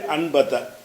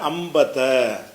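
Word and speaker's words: أنبت: என்பதனுடைய அபு அலை வந்து அன்பத்த அன்பத்த என்று சொன்னால் முளைக்கச் செய்தான் அன்ப என்று சொல்லாம அம்பத்த அந்த சுக்குன் வச்ச நூனுக்கு பிறகு பா வந்துச்சுன்னு சொன்னா அந்த நூன் வந்து என்னவாயிரும்னா ம் உடைய உச்சரிப்பாக மாறிரும் அம்பத்த அதுக்கப்புறம் த கல்லம தக்கல்ல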